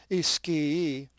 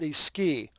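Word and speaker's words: ἰσχύι: Ischii. Ischii. The accent is actually on the ypsilon, so that's where it takes the emphasis. Ischii. But they're each, it's not iski.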